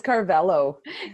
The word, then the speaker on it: Carvalho: It's Carvalho. Carvalho. I probably would have butchered that anyways.